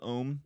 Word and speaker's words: Om: M the the Mantra om oh yeah so it's spelled om M but you're supposed to say it like a u m in like the most relaxed way like like that that's